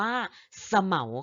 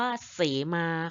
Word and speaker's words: เสมา: ไม้ ชนิด นึง จะ หมาย ถึง จะ อ่าน ว่า สะ เหมา ค่ะ อ้า ต้น สะเหมา นะ คะ แต่ ถ้า พูด เรื่อง โบสถ์ พูด เรื่อง พระ ภิกษุ พูด เรื่อง สังฆกรรม ต่าง ๆ นะ คะ จะ อ่าน ว่า เสมา ค่ะ อา อา นี่